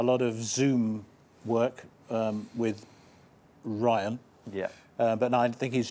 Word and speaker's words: Ryan: Well, yeah, well, Brian and Ryan has to rhyme with Iron, apparently.